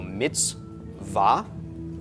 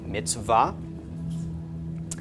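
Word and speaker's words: מִצְוָה: So mitz and then a stop. For once we have a vav that's actually pronounced and not part of a vowel, so it makes a V sound, followed by the ah of the comments, and the hey is silent at the end. So mitzvah, mitzvah.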